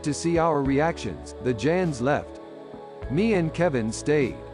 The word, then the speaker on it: Jan: As far as guys go, there was me, Irish man named Kevin, and two Danish men we called the two Jans, pronounced Jans.